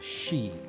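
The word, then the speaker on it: sidhe: it was uh it was called a a she spelled uh s-i-d-h-e pronounced sheep um and uh the the sealy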